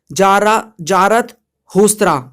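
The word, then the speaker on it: Zarathustra: For example यहाँ पर जो है जारास्थुरास्त्रा, ठीक है, यहाँ पर प्रोनाउंस जो है, प्रोनाउंसिएशन आप एक बार देख लेना, यहाँ पर ईरान में आते हैं। ठीक है, यहाँ पर देखो कैसे प्रोनाउंस करोगे, जारत हुस्त्रा।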